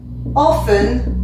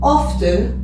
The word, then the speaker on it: often: le verbe et souvent se dit often ou often l'un ou l'autre et donc ça s'écrit